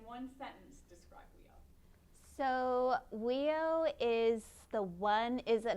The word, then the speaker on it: WEIO: world eskimo indian olympics affectionately known as weo that's how you pronounce it amber just got her